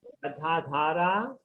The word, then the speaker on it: Gadadhara: Sri Advaita Gadadhara. Gadahara Dhara. Gadhara Dhara. Tara. Yeah. It is Srivasadi. Hara. Dhara. It is H-A-R-A, Hara. Yeah. So you say Gadadhara. Da Hara. Hara. The D is with the H.